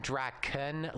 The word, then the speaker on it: Drakon: for a lot and I'm saying Drakon like that's how it's spelled and therefore pronounced him but also also